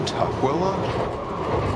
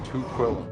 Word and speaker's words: Tukwila: It's pronounced Tukwila? Here I was saying Tukwila.